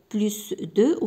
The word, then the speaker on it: plus: بلوس دو ولا بلوس كو كنطق هاد الاس هادي مارغريت.